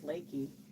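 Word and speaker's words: Leakey: I almost moved to Lakey, which looks like Leaky, but it's Lakey.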